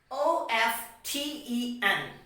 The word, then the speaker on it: often: t e n then the letter t becomes silent so we will understand this with some examples o-f-t-e-n here we will pronounce